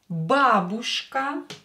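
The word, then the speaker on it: бабушка: pessimist in Russian PC mist a friend drug babushka babushka Babushka grandmother do not stress ooh stress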